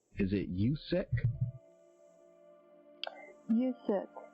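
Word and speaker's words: Yuksek: and maybe you can help me with the pronunciation of this guy's name. Is it Yusek? Yusek. It's Y-U-K-S-E-K-A, Yusek, Sunrise.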